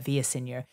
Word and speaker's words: Villaseñor: I got to say it right, Villaseñor.